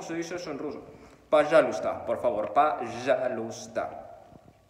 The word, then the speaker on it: Пожалуйста: Пожалуйста, por favor, пожалуйста. Ojo, deberías de ver cómo se escribe, porque se pronuncia de una manera diferente a la que se escribe.